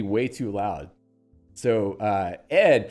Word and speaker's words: ed: So, uh, ED, pronounced as distinct letters. So, it's not ED, it's ed d apparently, which makes it